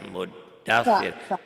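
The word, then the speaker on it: مدثر: Sa ya, muddatsir. Ada tasdidnya double tuh di situ. Tadi Ibu salahnya tasdidnya cuma dibaca satu, dibacanya dua.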